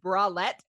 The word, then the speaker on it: bralette: our ad reads and he put in brackets pronounced bralette oh there's so many girl things that you